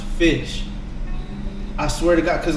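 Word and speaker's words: ghoti: like it's actually pronounced fish i swear to god because like the gh is kind of how gh is pronounced in enough and then the o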